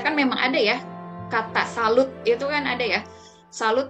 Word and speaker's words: salut: digunakan saldo ya selalu nah huruf t nya tidak dibunyikan Walaupun jelas-jelas ada tulisannya tapi huruf ke ini tidak berbunyi ya jadi dibunyikannya selalu Salu ya Kemudian untuk jawabannya